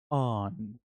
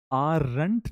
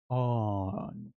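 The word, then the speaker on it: aren't: आंट आरंट नहीं बोलते। र silent है। र को प्रोनाउंस नहीं करते। हम इसको बोलते हैं ऑन। तो अ जो साउंड है ना वो थोड़ा लंबा होता है।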